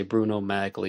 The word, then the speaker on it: Magli: photographed wearing a pair of Bruno Marley shoes it's spelled m-a-g-l-i some people say Bruno magli even OJ says Bruno maglie but the YouTube and radio commentator Lionel says